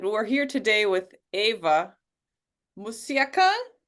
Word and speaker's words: Mucikyan: I'm Camilla Durand, your host, and we're here today with Ava Mucikyan. Did I say it correctly? Mucikyan, yeah, you got Mucikyan, it.